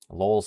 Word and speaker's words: Lowell: Lowell's spelled like LOL, like Lowell.